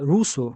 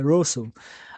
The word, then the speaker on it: Russell: E tem essa essa passagem de e russo, né? É Russell, né? Eu tenho que tô trabalhando a pronúncia. Às vezes falo Russo, mas é é Russell. A a pronúncia correta é é Ber Bertard Russell.